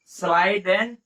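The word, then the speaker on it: Schleiden: Actually क्या है, स्लाइडेन में हमें लगता है कि एंड है, तो इसलिए एंड नहीं बोलते हैं, सीधा इसका प्रोनाउंसिएशन हो जाता है स्लाइडेन, स्लाइडेन स्वान। ठीक, इसका सीधा प्रोनाउंसिएशन होता है स्लाइडेन स्वान।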